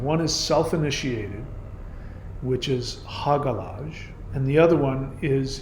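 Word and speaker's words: Hagalaz: So the term Hagalaj is the H rune. It's also can be pronounced Hayalaj.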